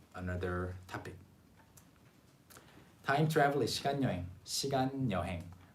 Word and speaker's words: 시간 여행: But the pronunciation again 시간 여행. Kind of like that. Or even 시간 여행. 시간 여행. It sounds like that. 시간 여행. 시간 여행 is the standard pronunciation, but in reality people kind of say it like 시간 여행.